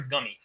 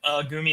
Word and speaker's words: Gumi: Is it Gumi or Gummy? I always say Gumi because that's how with I in the Japanese is pronounced.